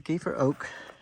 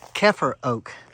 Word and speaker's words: Keffer Oak: Sorry, it's not Kiefer. Keffer Oak. The gentleman doing trail magic down below, I asked him how to pronounce it. And he said the Keffers used to own a farm and this tree was on it.